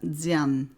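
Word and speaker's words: Dzyan: Alors, elle le rattache donc, en quelque sorte, à un manuscrit très ancien, connu sous le nom de Stances de Diane, D-Z-Y-A-N, Diane.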